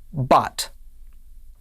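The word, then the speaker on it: בת: has a dog-ish so it is pronounced ba comets is ah and tav is to altogether this is pronounced bot bot means daughter let's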